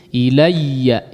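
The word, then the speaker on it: إليّ: Ilayya di sini bertasydid, huruf ya bertasydid ya. Jangan cuman pengucapan ya-nya saja secara ringan. Ilayya, ilayya ya. Jadi dihentak, coba ditekan sedikit. Ilayya, ilayya, ilayya. Nah, tapi tidak juga kemudian berlebihan sehingga ya-nya hilang ya. Atau suara ya-nya terputus.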